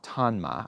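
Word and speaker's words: Tonma: made by a brand a Japanese brand called tanma I think that's how you say it t-o-n-m-a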